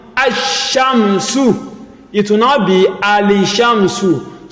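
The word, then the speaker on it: الشمس: anything on the lam, meaning that the lam is silent, and whatever comes after it, we have a shadda. So this shinun, we have a shadda before its fata'ah. So you will now assume a fata'ah on this alif that has scone, like we say, because you cannot pronounce an alphabet that starts with scone. So this one will now be ashamsu.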